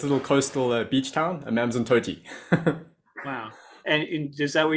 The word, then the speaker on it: Amanzimtoti: And how do you pronounce this town you live in? I'm in Amanzimtoti, so the it means the water is sweet. Amanzimtoti.